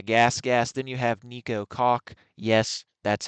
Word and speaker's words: Koch: Then you have Nico Koch. Yes, that's how you pronounce it.